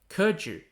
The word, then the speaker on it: Keju: kurju examinations were born kurju pronounced in chinese as kurju means subject recommendation originating